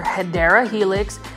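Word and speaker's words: Hedera helix: right over here was an actual hedra Helix guys or herera Helix um is the proper way to pronounce it this is an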